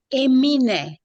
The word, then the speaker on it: Emine: Emine, like Emin. the singer Eminem without M in the end.